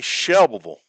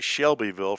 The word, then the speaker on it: Shelbyville: Shelville. I love saying that. Shelvable. Sounds like it's spelled with a shovel. Shelville. It's actually Shelbyville for those of you that live up north.